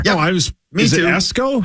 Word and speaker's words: Esko: But yeah, Cory Persich, the defensive back from Esko, Minnesota, will be here.